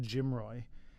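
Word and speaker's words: GMROI: another term here GMI it's often pronounced Jim Roy and it stands for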